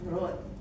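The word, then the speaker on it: wrote: Prote tulisannya W o ya root bacanya root right root jangan membacanya pakai write.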